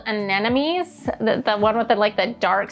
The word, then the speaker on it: anemone: I think these are called anemones, the one with the dark center in them.